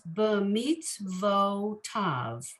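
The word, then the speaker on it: במצותיו: So the word is b'mitzvotav. Right. But to get the vo sound, it's just the vav with the o under it.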